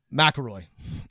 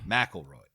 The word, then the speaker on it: McElroy: McElroy is how it's said. McElroy.